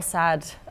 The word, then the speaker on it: SAD: I was sad, which is funny because it's pronounced sad, Right.